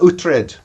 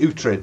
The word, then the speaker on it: Uhtred: I pronounce it Uhtred, but don't feel bound by that.